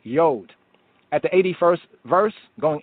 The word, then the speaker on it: Yod: So instead of Jod, it would be Yod.